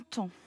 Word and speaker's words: temps: Le son en s'écrit EM. Pourquoi? Tu as raison. Parce qu'il est placé devant un P. Le P, je ne l'entends pas.